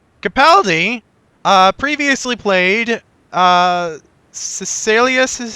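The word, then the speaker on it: Caecilius: different time period Capaldi uh previously played uh cecilius is how it pronounced on uh the fires of Pompeii a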